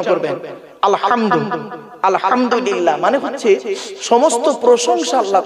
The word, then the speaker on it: আলহামদুলিল্লাহ: রাব্বিল আলামিন আলহামদু এই গলার ভেতর থেকে হেটা উচ্চারণ করবেন আলহামদু আলহামদুলিল্লাহ মানে হচ্ছে সমস্ত প্রশংসা আল্লাহ তোমার আর আমরা